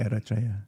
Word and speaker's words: Eritrea: It's called Eritrea. Thank you. Or how do you pronounce it? Eritrea. Yeah, there you go.